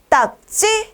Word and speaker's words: 딱지: 딱지 딱지 여러분 보세요 딱 기억 받침이 왔어요 찌 라고 읽어요 하지만 기역 비읍 받침 뒤에 나는 된 소리는 비슷하거나 똑같지 않을 땐 된 소리로 쓰는게 아니라고 했죠 그러니까 어떻게 써야 할까요 딱 지라고 써야 하는 거죠 이해 되시겠죠 지라고 쓰면서 찌라고 읽는다 정답은 4번이다 4번은 다음